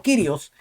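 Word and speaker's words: κύριος: que le dijo que la pronunciación correcta No es curios sino kirios Entonces al cesta se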